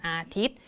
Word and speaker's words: อาทิตย์: ทัณฑฆาต อยู่ ด้าน บน เวลา ที่ เรา อ่าน ออก เสียง เนี่ย เรา ก็ จะ อ่าน ออก เสียง ถึง แค่ ตัว สะกด ต่อ เต่า ตรง นี้ ใช่ ไหม คะ วัน อาทิตย์ เรา จะ ไม่ อ่าน ว่า วัน อาทิตย์ เห็น ไหม คะ เรา จะ อ่าน ถึง แค่ ตัว ต่อ ตับ เท่า นั้น เรา เจอ แล้ว นะ